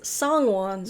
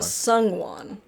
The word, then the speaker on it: Songwon: It is Songwon, not Sungwon. Sung.